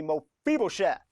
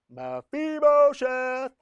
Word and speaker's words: Mephibosheth: Yeah, say his name with me, Mephibosheth. Mephibosheth.